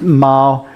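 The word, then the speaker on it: 猫: minute this is pronounced meow but together they're pronounced Ma so many Chinese characters we have a semantic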